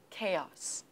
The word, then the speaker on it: chaos: syllables and chaos chaos is it chaos or chaos yes my student what is it yes dear teacher I think uh the stress is on the first syllable medium medium Yeah medium